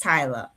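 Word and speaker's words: Tyla: Is it Talia. Tyler or is it Talia? Because you've been Talia. saying Talia. It's Tyler.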